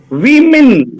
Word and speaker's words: women: Women. Very good, very good, very good, very good. Good. WOMAN is woman, but WOMEN is women.